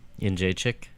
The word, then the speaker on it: Jędrzejczyk: and I found out the Polish way to say it, and it's like chick instead of check. Jędrzejczyk.